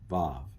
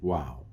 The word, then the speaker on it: Vav: Vav. It used to be pronounced wow.